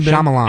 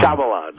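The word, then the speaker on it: Shyamalan: will go see his movies again M Knight shamalamadingdong whatever his name is how do you say his last name shamalan shamalan all right he made one really great movie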